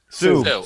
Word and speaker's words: Sioux: Sue. Okay. Sue. So, That's a once big- again, Keith See? with his great pronunciations here.